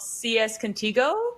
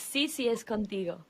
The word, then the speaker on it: CCS Contigo: Like you have a new book called CS Contigo, correct? Is that the correct pronunciation? Almost, yes. It's CCS Contigo.